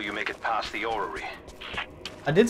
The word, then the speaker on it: orrery: But it should be safe, at least until you make it past the orrery.